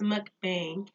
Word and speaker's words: mukbang: gonna say it wrong I said bong and that's probably not it my brother was like you know it's mukbang but bang okay well